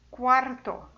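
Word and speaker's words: cuarto: Quarto. Cuidado com quarto, porque é CUA, tá, gente?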